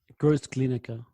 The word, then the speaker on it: Großglienicke: You talk about, I'm so poor with my pronunciation. What's the name of the village again? Großglienicke.